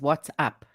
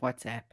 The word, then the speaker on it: WhatsApp: What happens to you when somebody says what's up instead of WhatsApp?